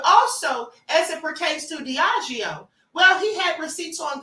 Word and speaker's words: Diageo: But now he also did the same thing with the suit he had against Diageo. Or Diageo. I'm sorry, it's Diageo. All right, I finally looked up the pronunciation.